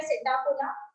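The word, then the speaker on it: Psittacula: Then parrot के लिए P silent है, सिटाकुला पैरेट।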